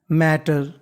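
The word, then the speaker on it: matter: rule होता है कि अगर कोई भी लेटर अगर दो बार लिखा है तो उसका उच्चारण एक बार करना है इसे हम लोग मैटर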